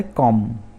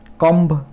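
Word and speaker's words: comb: तो first letter है कॉम। कॉम, कॉम्ब नहीं है, B का प्रोनाउंसिएशन नहीं होगा इसमें, कॉम।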